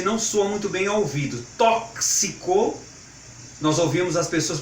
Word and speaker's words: tóxico: o Tom Chico tóxico Mas a forma correta da pronúncia desta palavra é tóxico assim como gelo flexico crucifixo cor crucifixo desculpe crucifixo e outras palavras que tem esse som de cs tudo bem Olá tudo